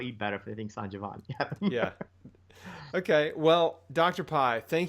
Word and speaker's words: Sanjevani: Now, I was pronouncing the name of your clinic wrong. It's Sanjevani. Sanjevani. I thought it was Sanjevani.